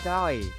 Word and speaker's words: Aoi: Aoi. Like aioli. Like the food. But when I finished my tea and went back to the kitchen to wash my glass, no, what do you mean no? Owie? Owie? Pronounced Owie.